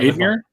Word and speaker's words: Aydemir: Is that how it's pronounced? Ridvan? Ridvan Admir?